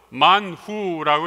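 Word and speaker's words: מן הוא: What is this이 말은 히브리 말로 만후라고 이렇게 발음하죠 만후라는 말 그 이름이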